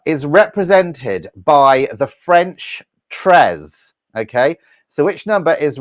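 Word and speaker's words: treize: it's pronounced correctly it's spelt t-r-e-i-z-e so it's pronounced tres now what number did uh robert want let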